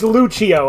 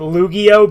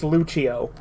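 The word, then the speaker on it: Lucio: zombie uh it's pronounced zomi well it's it's Lucho I keep I keep mispronouncing it luggio but it's Lucho yeah this is by Yu-Gi-Oh fi guys anyway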